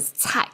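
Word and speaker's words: 菜: And pronounce it ts'ai. So, it still kind of carry over the sound just the tonation changed.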